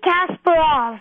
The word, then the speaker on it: Kasparov: Kasparov? Garry Kasparov.